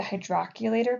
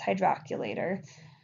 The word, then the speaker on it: hydrocollator: heat packs, like a hydroculator pack. I know that's not spelled like it sounds. It's spelled hydrocollator, but that's not how you say it. It's hydroculator.